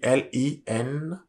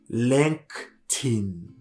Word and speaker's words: LinkedIn: Il s'écrit L-I-N-K-E-D-I-N. Faites attention à la prononciation de ce mot-là parce que il peut être vraiment décisif, surtout dans le milieu professionnel. Il se lit LinkedIn.